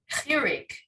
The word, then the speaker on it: Chirik: the other 2 I didn't know how to pronounce them. Okay, Chirik, Yeah. and So Sirik, is it with the shin or the sin? Sirik. Chirik.